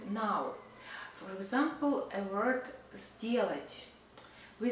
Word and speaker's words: сделать: For example, a word сделать. We spell сделать, but we pronounce, the most often we pronounce сделать. Сделать not с, but з.